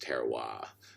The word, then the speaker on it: terroir: going to be different because I think it's pronounced terroir, like that.